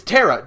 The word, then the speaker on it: Tara: it's uh no it's it's Tara the terara is her name is spelled t a r a in Japan like